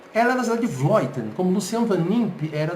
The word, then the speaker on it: Vleuten: A Annemiek van Vleuten, que se escreve Vleuten, mas se fala Vleuten, holandesa da cidade de Vleuten.